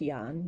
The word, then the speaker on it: Jan: a doctor approximately 1600s and his name was Yan van Helmont JN that was a spell Jan but pronounced yang Yan van Helmont in he decided he was